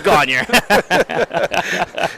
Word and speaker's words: Gagnon: You know, the Gagnon is pronounced 16 different ways at this tournament. That's right, but when you're in East Millinocket, it's Gagner. So, yeah, they got obviously some key players with the ones you mentioned.